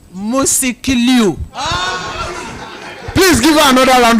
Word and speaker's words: Musikilu: After 4 years, I was so sure that you would pronounce Musikilu today. What is it? How is it called? Musikilu.